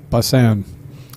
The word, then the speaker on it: Bussan: names you want but busan is pronounced yup busan they actually called me